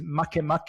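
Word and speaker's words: Makemake: Um a name is easy to remember and you you know right away his name is mak mak but in English it's spelled m a ke make.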